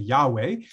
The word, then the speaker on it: Yahweh: won't go into, but the vowel points for the word Adonai, which means Lord, are put onto these letters, which means you can't really pronounce it. And so Jewish people, don't say this name. Christians, however, don't have the same scruples about it. We turn YHWH into Yahweh.